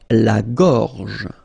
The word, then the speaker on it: gorge: La gorge. Okay, remember when you've got this combination G and O, you get the sound go, go. Okay, so gorge. And then G and E gives J.